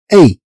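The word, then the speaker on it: est: هذه تتنطق في هذه الحالة تنطق أي، تنطق أي.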